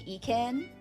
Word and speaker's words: Ekin: Because I think last time I said Ikin and I found out that's not how you say her name.